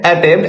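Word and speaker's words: attempt: রুলট word এর মধ্যে এন পিটি থাকলে এর উচ্চারণ হবে মট। এক্ষেত্রে পি উচ্চারিত হয় না শুধু এম আর টি উচ্চারিত হবে উদাহরণ এ ডবল টি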